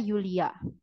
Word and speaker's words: Julia: Eh tadi perbedaannya itu kan J dibacanya menjadi Yod jadi kalau namanya Julia dibacanya Yulia oke lalu Selanjutnya ya